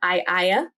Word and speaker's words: Aeaea: So, Circe, often known as the witch So, Circe, often known as the Witch of Aiaia, that's spelled Aeaea, is very much associated with herbalism, with potion making, with ritual.